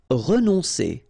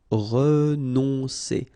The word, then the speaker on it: renoncer: Renoncer. Okay, O and N together. On, renoncer.